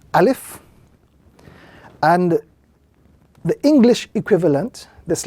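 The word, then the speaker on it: ألف: This is a letter in the Arabic language which is pronounced through the emptiness of the mouth. A very soft letter, not pronounced with any type of emphasis, and in pronouncing this letter, the air flows naturally through the lungs and the mouth of that individual.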